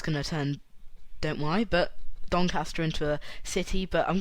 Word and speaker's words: Doncaster: nature reserve in doncaster i know it's pronounced doncaster even if you say the word last or past and said the last and past it's commonly known as doncaster rather than doncaster um this is rather